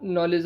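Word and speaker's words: knowledge: अब एक चीज़ आपको याद रखनी है, यदि किसी भी वर्ड में के आता है और उसके जस्ट बाद एन आता है, तो हमेशा एन के साइलेंट रहता है। जैसे नो हो गया, नो और नॉलेज हो गया, इसमें क्या होता है, सबसे पहले के आता है और जस्ट इनके बाद एन आता है, तो के साइलेंट रहता है हर एक वर्ड में। ये रूल है इंग्लिश का।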